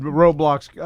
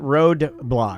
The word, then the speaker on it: Roblox: Because my sons would Roblox. It's Roblox, Huh? not roadblocks.